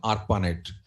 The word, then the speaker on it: ARPANET: Not network, network actual pronunciation ARPANET.